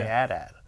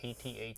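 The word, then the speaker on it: AT-AT: go on then so old guys like us we say at at yeah younger people tend to say 080 they do is that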